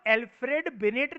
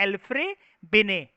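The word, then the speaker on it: Alfred Binet: इसके इन भाई साहब के नाम के अंदर ना डी साइलेंट होता है, तो हम उसको एल्फ्रेड बिनेट नहीं कहते हैं। एल्फ्रेड में डी साइलेंट है और बिनेट में टी साइलेंट है, तो हम लोग इसको बोलते हैं एल्फ्रे बिने, ठीक है।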